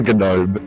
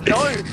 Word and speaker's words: gnome: It's a gnome. It's gnome. It's a gnome. Silent G. Yeah, the G is silent, Torsten.